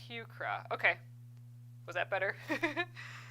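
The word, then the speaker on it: Heuchera: Oh, pronounced Hucra.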